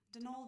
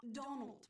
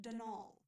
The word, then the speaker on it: Donal: That was the caretaker, Denol Delaney, not Donald, mind you. There's no D at the end, so it's pronounced Dol.